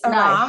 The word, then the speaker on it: Arame: Actually, no, it's Arame. No. The E is silent.